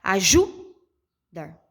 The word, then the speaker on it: ajudar: Ó, ajudar. Não fica legal, né? Então, automaticamente, nessa minha pronúncia, quando eu entono mais a minha voz, a sílaba mais forte que eu pronuncio é o dar.